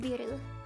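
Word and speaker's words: ビール: It's just biru.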